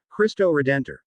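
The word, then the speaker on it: Cristo Redentor: christ the redeemer portuguese christo redentor standard brazilian portuguese kiss to edito local pronunciation khatuzidito is an art deco statue of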